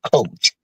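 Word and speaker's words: כח: Well, that word says, when I studied that word power in the Hebrew, it comes from a Hebrew word called coach, and it's spelled Koachh.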